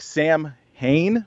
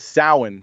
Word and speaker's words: Samhain: Salan Salin it's spelled it looks like Sam Hayne but it's sowin so I always pronounce